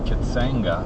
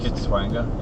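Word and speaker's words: Kitwanga: So we've just had to make a note that at the little town of Kitsanga, I think it's pronounced Kitswanga, yeah, that we have to turn off Highway 13 and go on to, what was it?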